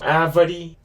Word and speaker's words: árvore: Árvore de Natal. A. And remember that this A has an accent. It's called an acento agudo. You're pronouncing it like an ah sound, more stronger.